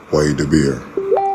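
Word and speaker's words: וַיְדַבֵּר: And so you have to say, okay, well, I would have pronounced it Waidabir.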